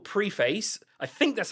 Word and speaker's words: Preface: Also, Geely have a new car that's called Preface. I think that's how you pronounce it. It's Preface.